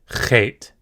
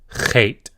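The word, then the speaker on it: חית: Chet. This is pronounced like the CH in the German word Loch. Chet. Chet.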